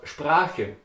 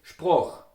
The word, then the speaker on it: Sprache: Let's take the word Sprache. Sprache with A, in Austria you would say Sproch with O.